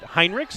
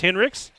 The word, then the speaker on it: Hendricks: in the past I've I pronounced it heinrichs and I think a lot of people do but here's Hendricks got a three ball right on cue as I was talking about her 25-6 but I apologize Drew I I was told by your coach it is in fact Hendricks even though I think